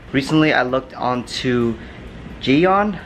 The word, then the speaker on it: Gyeon: I looked on to ji-yong I guess that's how you pronounce it it's a G ye o n I'm gonna put all